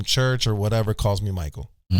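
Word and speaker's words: Maiko: or whatever calls me Michael. It's weird though because they spell it weird too. They spell it M-A-I-K-O. Like the Japanese way. M-I-K-O. M-A-I-K-O. Like how you would pronounce it in Puerto Rican.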